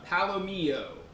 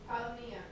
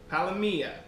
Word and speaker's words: palomilla: going to show you how I make uh Palomo palomia what's the correct pronunciation Meredith palia palia it's not o I always go with an